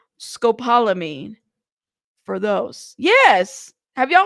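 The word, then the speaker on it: scopolamine: Pronounce. Let's see. Let's see. Scopalamine.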